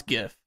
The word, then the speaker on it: GIF: What does GIF stand for? Also, how do you pronounce GIF? Do you say GIF or JIF? Yeah. It's GIF. Yeah, it's for sure GIF.